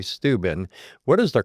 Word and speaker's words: Steuben: I've always said Steuben, but I hear other people say Steuben. What is the correct way to pronounce that? Depends on if you're from there. I always say Steuben, Okay. which gives it a longer feel.